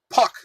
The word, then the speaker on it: Park: How do you say it? Puck. So without the R.